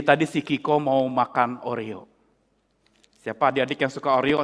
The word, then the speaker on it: Oreo: Bacanya bukan Oreo, tapi Oreo. 1, 2, 3, Oreo. O yang pertama hitam. O yang kedua juga hitam. Tapi di tengahnya ada re. Singkatan apa re itu? Krim. Tapi dibuat re. Jadi bacanya O, re, o. Sebut O, re, o.